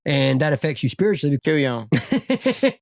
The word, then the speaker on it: kuon: Kuyon. That's what it sounds like. Kuyon. That's exactly how it is spelled.